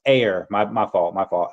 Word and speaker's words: Ayr: It's pronounced air."